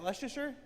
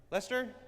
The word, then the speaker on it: Leicester: How do you say? Is that Leasher? Lester.